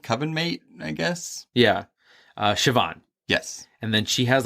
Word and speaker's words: Siobhan: And I'm glad you said it because I would have said like Sinbad or something. Siobhan.